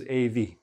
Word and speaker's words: of: And the OV, the OF becomes AV, a lot of attention, a lot of attention, okay?